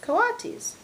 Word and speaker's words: coati: or raccoon e dogs these are coati mrs. Brisbane's said reading from the letter pronounced coitus the coati looked weird miss